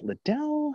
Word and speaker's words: Liddell: And guys like John, is it Liddell? How do you pronounce it? I can't pronounce this one. Liddell. I thought it was.